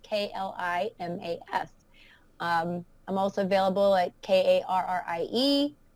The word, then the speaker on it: Klimas: I mean, it's Karrie, and the pronunciation of my last name is Klimas, like climbing to success, Klimas.